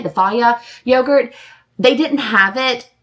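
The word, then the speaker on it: Fage: Annie loves the Faya brand yogurt, like the F-A-G-E. I think that's how you say it, the Faya yogurt.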